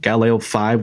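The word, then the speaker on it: Galileo V: Galo 5, where five is spelled like the Roman numeral V.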